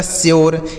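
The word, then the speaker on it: sure: यस यू आर ई, तो यस से हो गया दोस्तों स, यू का उच्चारण यू हो गया, आर ई से र, यह लिखा गया आपका श्योर।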